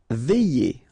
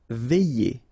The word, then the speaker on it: veiller: Veiller. Okay, remember when you get this I, double L, and then here it's E, y. Veiller. Veiller.